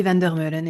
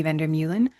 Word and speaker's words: Vander Meulen: My name is Vander Meulen, and it's how I would pronounce it in French. In English, it'd be Vander Meulen.